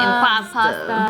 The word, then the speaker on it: impasta: Imposter, but said like slang. Oh, so it could like rhyme with Obama. Impasta.